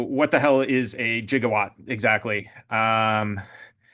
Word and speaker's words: gigawatt: Uh, so what the hell is a gigawatt exactly? Um, with due respect to Marty and Doc, it's pronounced gigawatt.